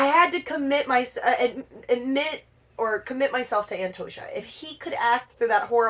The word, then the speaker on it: Antosha: It's pronounced Antosha.